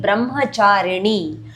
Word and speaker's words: Brahmacharini: Second shloka is dedicated to Devi Brahmacharini. Ni, the tongue tip has to touch upper palate when you say pronounce the letter Ni.